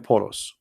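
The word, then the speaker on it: بولس: If you go to the interpretation, you will see that this is Bulos, which is the way of Muslims, they say and pronounce the name of Paul. In Arabic we call him Polos.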